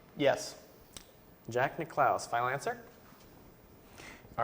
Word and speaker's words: Nicklaus: Is that how you pronounce his last name? Yes. Jack Nicklaus.